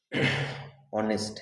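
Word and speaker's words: honest: ऑनेस्ट है, देखिए H silent वाले बोले थे, लेकिन आपको यहाँ समझना है कि ऑनेस्ट जो है ये क्या नाउन है, तो हम बोले नहीं।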